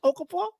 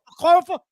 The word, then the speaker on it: Okorafor: How do you pronounce Okafor? Okorafor.